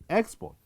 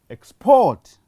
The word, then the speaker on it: export: That export, I have emphasized the first syllable, and as you heard it being spoken louder. But on the second word, I have emphasized on the second syllable, port. So what happens is that the stress has shifted from the first position to the second position.